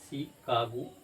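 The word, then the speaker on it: Chicago: जैसे शिकागो, America के एक स्टेट का नाम है शिकागो, CH को श पढ़े।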